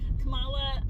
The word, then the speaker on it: Kamala: I'm wanting to pronounce it like the vice president, but it's not. No. Kamala, you have them obviously concerned about them, but also super supportive and super understanding.